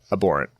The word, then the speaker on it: abhorrent: were abhorrent and heinous abhorrent the H is silent look you're learning I'm